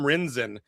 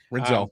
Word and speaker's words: Rinzel: I mean, Cole Koepke, that's, he hit Sam Rinzen. I think I'm pronouncing his last name correctly. Rinzel. It was Rinzel.